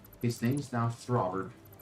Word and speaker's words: Throber: A throber. Could you spell that? T H R O B E R brother. Like robber with a th at the front.